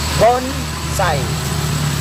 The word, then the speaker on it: bonsai: So pagka proper pronounce yan guys ay bonside. B o n s a i. Bonsai. Bonside.